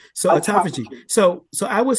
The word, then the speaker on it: autophagy: that state of um and I can't pronounce the word you just said autophagy. So autophagy.